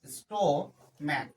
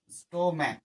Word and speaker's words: stomach: স্টো ম্যাক, STOMACH, স্টোম্যাক। তাহলে সিএইচটা কার মতো উচ্চারণ হলো? কয়ের মতো উচ্চারণ হলো। স্টোম্যাক কার মতো উচ্চারণ হচ্ছে বাবা? কয়ের মতো। সিএইচটা কয়ের মতো উচ্চারণ হচ্ছে, তাহলে এখানে কি করবো?